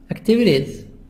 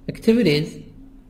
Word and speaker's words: activities: Activities. Activities. T soft D.